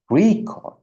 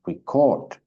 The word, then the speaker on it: record: introduction to linguistic ya stress for example emphasized on syllables like in record and record nah the one is record is the when we talk about the first stressed can talk about the noun when we have record and we talk about the second syllable stressed we talk about the verb nah when things are